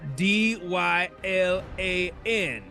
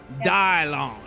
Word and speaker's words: Dylan: yeah I know it's because my name is spelled d y l a n and most people say that's Dylan but I'm not one of most people you know I'm off the grid I'm pronounced dialon that way when the